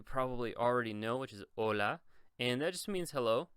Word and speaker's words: hola: now just notice that we do not pronounce the h here so this is just for decoration so I don't say hola I always say hola the H is for decoration and then the Y